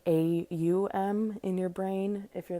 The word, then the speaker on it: Aum: um you kind of you can break it down to almost like three syllables. So that's why I think it's helpful to look at it as like a u m in your brain if you're that kind of person.